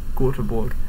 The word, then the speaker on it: Göteborg: Stockholm, and Gothenburg, although I don't think that's how they say it in Swedish. Göteborg.